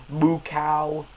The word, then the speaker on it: Mukau: Anyway, 8 out of 10 for Mukau, which ironically that's Mukau. That's how his name is pronounced.